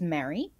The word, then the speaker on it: Mary: Which in the United States of America, most people pronounce like your name in Lord of the Rings, M-E-R-R-Y.